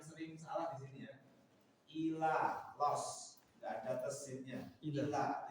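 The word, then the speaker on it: إلى: Ila los, nggak ada tesinnya.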